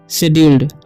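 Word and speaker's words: scheduled: Personal बोलेंगे, personal, personal शेड्यूल्ड, शेड्यूल्ड, ठीक है, क्योंकि यहाँ पर सी जो है साइलेंट है, ठीक है, शेड्यूल्ड बोलते हैं यहाँ पर, ठीक है, फॉर दिस इवेंट, ठीक है।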